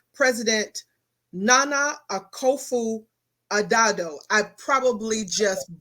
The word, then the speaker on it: Akufo-Addo: want to pronounce his name correctly, President Nana Akufo-Addo. I probably just butchered that. Addo.